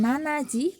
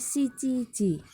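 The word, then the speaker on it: 七時: Bukan nanaji tapi shichiji ya.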